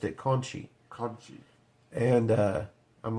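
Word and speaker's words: Conti: Kai versus tiny era Conte and they they pronounced it Conchie and I'm like well if that's not you're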